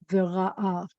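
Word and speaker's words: וראה: So this is v, and this is ra, and this is a with a silent hey, v'ra'a, and he saw. And I told you that most of the time the accent's on the last syllable.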